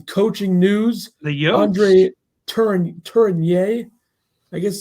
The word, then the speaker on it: Tourigny: Andre Tourigny, I guess is how you pronounce that, is the favorite to be the head coach of the Arizona Coyotes.